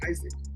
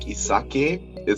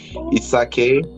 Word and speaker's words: Isake: Why give him Isaac? It's actually supposed to be more like Isake. So that's supposed to rhyme with Yasuke. Isake, Yasuke, right?